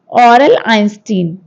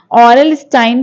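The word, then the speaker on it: Aurel Stein: ऑरल आइंस्टीन। ठीक, ऑरल स्टाइन भी पढ़ते हैं आप, स्पेलिंग ध्यान दीजिएगा।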